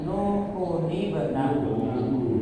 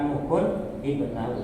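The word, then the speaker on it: نوحٌ ابنه: Jadi bukan nukun bernahu, tapi nukuni bernahu.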